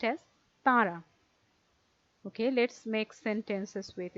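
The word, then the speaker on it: তাঁরা: There is a half moon shape here, and there is a dot within this half moon shape, which indicates that there should be a nasalization here.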